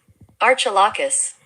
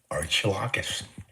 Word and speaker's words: Archilochus: Archilocus. Archilocus.